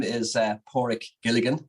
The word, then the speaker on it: Padraic: do you say it but it's poric I always say um a dog's paw and a Rick Shaw so poric is the the best way to to say it um yeah so I